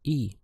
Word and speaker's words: y: for and which is spelt as a y in Spanish and the pronunciation is e for example to say